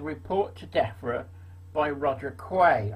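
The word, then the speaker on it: Quy: to DEFRA by Roger Quay. I think that's how you pronounce it, Q-U-Y, his surname is.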